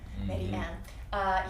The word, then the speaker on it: Mediem: Yes, and it started off like my husband, Medi M, it's spelled Mediem, Medi M.